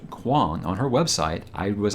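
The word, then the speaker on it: Kuang: poppy war by RF Quan and it is pronounced Quan on her website I was like I hope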